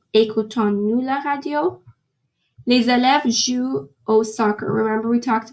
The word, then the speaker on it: jouent: Les élèves jouent au soccer. Remember we talked about this. You don't pronounce the ENT because if you pronounce it like jouant, it's going to sound like an ONS.